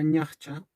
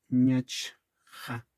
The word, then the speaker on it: ñachcha: Ahora, esta misma palabra a veces en pronunciación la van a escuchar como invirtiendo estas consonantes en vez de ñachcha, como ñachja. También se escucha eso, ñachja o ñachcha.